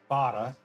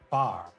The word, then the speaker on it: fahre: So, like, this word, fahre, is pronounced with the E at the end. Fahre. Ich fahre. I drive. Ich fahre. But in English, you would probably just pronounce it far, far, because you leave off the E's at the end of things.